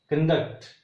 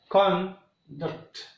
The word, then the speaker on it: conduct: The same way the next one is conduct. Here conduct and here conduct.